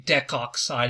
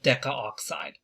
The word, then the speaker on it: decoxide: We are going to drop the A before oxide. So we're only going to say decoxide instead of decaoxide. And that's just to make things a little bit easier for us to pronounce.